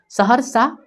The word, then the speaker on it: सहरसा: एच से ह, सह, यहाँ पे जो है यहाँ पे अ का उच्चारण है इसलिए सह, र के बाद अ का उच्चारण नहीं है, सहरसा, और सीधा लिखिए एस ए, सहरसा।